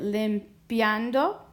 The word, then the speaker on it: limpiando: So now let's figure out which of these three syllables, lim, pian, or do, gets the most stress. Well, here's a big clue. It ends in an O, so our rule says that our second to last syllable should get the stress, and it does.